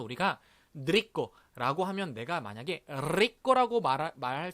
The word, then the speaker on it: rico: 예를 들면 우리가 L의 발음을 넣는 발음이 이런 게 있습니다. rico, 맛있는 이라는 단어거든요.